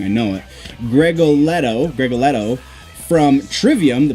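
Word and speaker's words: Gregoletto: much on fill side with them how Paulo Greg oh I'm so sorry I've been saying his name wrong I know it Greg Oh Leto greg Leto from Trivium the bass player from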